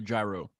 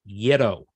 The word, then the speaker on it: gyro: Yeah, it is spelt gyro, but my mother lived in Greece for 2 years, and she said it's yiddo is how they say it.